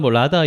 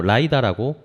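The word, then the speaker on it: LiDAR: 확인을 해 봤어요 자 아까 라다 이야기했는데 일반적으로 라이다라고 발음합니다라고 합니다 구독자분들이 죄송합니다 정정을 해주셨고요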